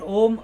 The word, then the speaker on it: Om: When you chant Om, Uma, A begins from the base of your throat, the guttural, and U is the palate and the